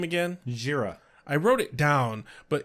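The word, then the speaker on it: Jheira: Where Angel catches up with, how'd you pronounce her name again? Jira. I wrote it down, but even looking at it, I'm like, I don't know how to pronounce it. It looks that. like Jahira, but it's Jira.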